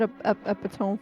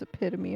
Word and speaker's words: epitome: I said epome for the longest time and then found out it was epitome.